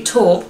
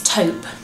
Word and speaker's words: taupe: gone for perfectly what I thought was called perfectly talk but apparently it's taupe so picky talk perfect